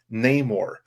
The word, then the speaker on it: Namor: from what I understand the traditional way of pronouncing the name has been Namor and the meaning of